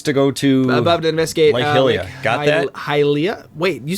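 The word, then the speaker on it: Hylia: go to to investigate halia wait you say hilia did I did I just say that yeah you said like hilia but I'm pretty sure it's halia yeah because it's high Rule and Hyrule yeah okay cool what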